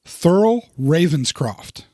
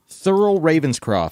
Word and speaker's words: Thurl Ravenscroft: Grinch same guy yes and yes I don't know his name Thurl Ravenscroft holy crap that's a Bond villain th URL Thoreau Thurl Ravenscroft Thurl Ravenscroft which I had to make sure